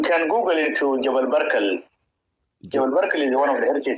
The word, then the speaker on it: Jebel Barkal: Jebel Barkal is one of the heritage sites in the north, Jebel Barkal.